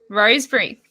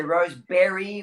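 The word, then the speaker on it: Rosebery: hear you sat because i was going to say rose berry or you know locals always have the way of pronouncing it so yeah the wrong way it's a rose bridge it's a bit like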